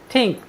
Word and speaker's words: think: साथियों, यहाँ पर टी के बाद H आया है और हमने बताया है यदि टी के बाद H आए तो हम टी का उच्चारण द तथा थ करते हैं।